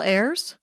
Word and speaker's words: Ayers: AIRS is generally how I tell people, like the plural of air. Oh, like Ayers? Yeah. Kyle Ayers?